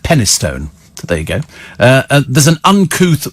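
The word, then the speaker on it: Penistone: England called henna stone it's written penis stone but it's pronounced penny stone today ago there's an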